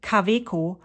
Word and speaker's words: Kaweco: this is uh the kaweko no actually let me pronounce it the way that a German would because I am German the kaviko Al spot uh golden